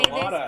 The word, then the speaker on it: Chelada: I know how to say this proper. It is a Budweiser and Clamato it is clamato urine. Chelada. That's how you say that.